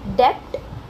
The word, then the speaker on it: debt: Debt.